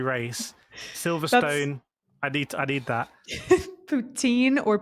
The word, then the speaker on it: poutine: She's Canadian, but poutine, the way it's spelled in French, to me would be poutine, not Poutin.